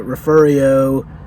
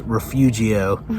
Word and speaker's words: Refugio: more days in uh the referrio corpus christi if you look it up on the map it's refugio but that's not how they pronounce it but it's oh